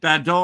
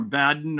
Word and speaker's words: Badon: Is it Badon or Baden or what? But when I did the Google thing, how to pronounce, it said Badon.